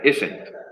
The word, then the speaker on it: isn't: Y se pronuncia isn't. Como si tuviera otra ahí entre medio.